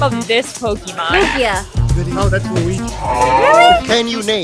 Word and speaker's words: Lugia: How do you pronounce the name of this Pokemon? Lugia.